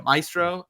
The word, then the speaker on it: Maestro: anatomy of fall Carrie Mulligan I hope I'm pronouncing this right Maestro Mastro Maestro yeah Maestro and then Annette Benning and I yeah niad